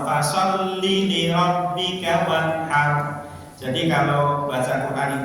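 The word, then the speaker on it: لِرَبِّكَ: Linya jangan dipanjangkan Ibu. Fasalli linya pendek mawon. Fasalli li rabbika wanhar.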